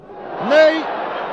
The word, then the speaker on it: Ney: Cela s'écrit comme notre maréchal, Ney, mais ça se prononce Ney, Ney, que voici sur